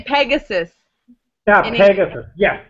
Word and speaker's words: Pegasus: In English, we would say Pegasus.